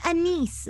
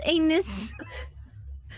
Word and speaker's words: anise: It's anise, like star anise, not anus.